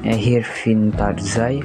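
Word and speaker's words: Ervin Tarczay: Erwin Tarzai diucapkan Erwin Tarzai, lahir di Pest pada tahun 1919.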